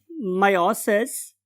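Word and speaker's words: meiosis: फिर उसके बाद इन स्पर्मेटोगोनिया में क्या हुई थी, मायोसिस। और एज a result of मायोसिस, या बहुत से लोग इसे मियोसिस भी बोलते हैं, what ever you want to pronounce, मायोसिस, तो यहां पे प्रोड्यूस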